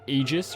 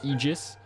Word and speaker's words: Aegis: new skill here called aegis or aegis i always pronounced it aegis but ae is supposed to kind of be like one letter it's really weird in like latin because like archaeology has ae so it's like art